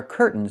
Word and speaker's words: curtains: This word has two pronunciations. I can say curtains or curtains. But don't say curtains. It's curtains with a real t curtains. Or I can use a stop t and say curt. Stop the air. Put the tongue up. Curtains. And go directly to the end. Curtains. So curtains or curtains. Both pronunciations are correct.